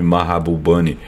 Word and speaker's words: Mahbubani: mas tem origem indiana esse nome mahbubani deve ser pronunciado como eu tô falando assim mesmo ele ocupou importantes postos